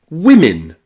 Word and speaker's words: women: And the eighth way to pronounce O in English is I I. This is very rare. This is not common at all. Okay. It's only found, as far as I know, in the word women.